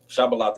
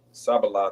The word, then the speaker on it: Shibboleth: And he said, When you go to the word Shibboleth, Shabbalah, mhm, and Sabbalah, those going to Shabbalah is the correct way to say it. Sabbalah is the uh, Ephraimite dialect, which we'll get, Lord's willing.